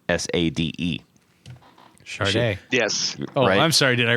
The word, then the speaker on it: Sade: it's so it's everybody everybody was like oh a Sade right and she actually they had to put things on like the records and everything that said pronounced Sade uh and um so